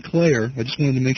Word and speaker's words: Klayer: Is it Klayer? Uh-huh. Okay, John Klayer.